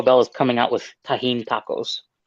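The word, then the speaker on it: Tajín: so so Elie how do how do you pronounce the the spicy stuff tahen tahen okay have you ever had Lee hang Moy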